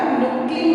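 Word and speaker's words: knuckling: बच्चों इसमें के साइलेंट रहेगा, नुक्लिंग मेथड है ये।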